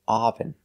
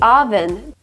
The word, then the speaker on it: oven: this is not correct we cannot say oven I can't turn on the oven we use the short sound like cup and up we say uh uh relaxed sound uh oven oven oven